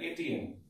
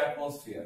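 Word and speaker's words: atm: কেউ আবার বললো না যেটা এটিএম। অবশ্যই লিখছি আমরা এটিএম, কিন্তু উচ্চারণ করবো অ্যাটমসফিয়ার।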